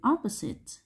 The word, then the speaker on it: opposite: Và từ opposite, nhấn âm 1.